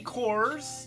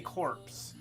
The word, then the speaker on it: Corps: So anyway, yeah, our Army Corps, you know, the Corps, but every time I see that word, I want to say corpse because I don't understand a silent P.